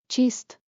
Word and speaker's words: چیست: Tip: Chist. Rhymes with gist.